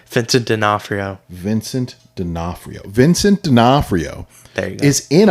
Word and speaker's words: D'Onofrio: Keep saying the name wrong. What is his name? Vincent D'Onofrio. Vincent D'Onofrio. Vincent D'Onofrio there you go.